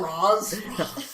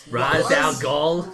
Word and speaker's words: Ra's al Ghul: You mean it's not Roz? Ra's al Ghul.